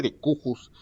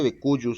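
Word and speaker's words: de cujus: Una persona fallece y recuerde que las personas que fallecen se les conoce como decuyus. Se escribe decuyus y se escribe así decujus, y no se dice decujus, se dice decuyus, ya también se los había comentado.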